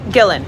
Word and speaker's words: Gillan: movie to see them you pronounce my name like karen gillan hard g the best piece of